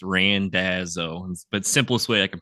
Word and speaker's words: Randazzo: Is it Randazzo or Randazzo? It's Randazzo. It probably had a little more ethnic flair where it came from, but for me, just a country boy here in the Midwest, it's Randazzo.